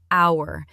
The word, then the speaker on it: hour: It is spelled with the letter H, which is a consonant. But we do not say the H. It is completely silent. That is true. We pronounce it like hour. It starts with an O sound.